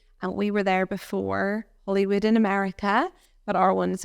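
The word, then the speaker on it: Holywood: it is Hollywood and we were there before Hollywood in America but our one's only spelled with one L so um but it is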